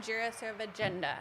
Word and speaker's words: Jirasevijinda: ready we're gonna say it right jira serve agenda perfect yes wow that's like a whole alphabet